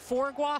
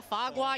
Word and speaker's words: foie gras: Is it foie gras, foie gras, yo gras?